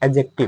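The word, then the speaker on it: adjective: अंग्रेजी में इसी को कहते हैं एडजेक्टिव। क्या कहते हैं? एडजेक्टिव। तो इसे जो है हम लोग क्योंकि यहां जो है एडजेक्टिव में जे है यहां साइलेंट रहता है।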